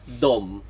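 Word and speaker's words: dem: So remember in Swedish they and them are both pronounced dom in Sweden of course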